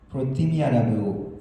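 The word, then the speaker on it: προθυμία: 간절한 마음으로 번역된 이 헬라어 단어는 프로티미아라고 읽는데 준비가 돼 있다라는 의미입니다.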